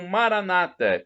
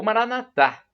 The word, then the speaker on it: Maranata: E agora a expressão Maranata, como dizem os nossos irmãos separados, os evangélicos ou protestantes. Ou Maranatá, como dizemos nós, católicos, com a tônica na última sílaba.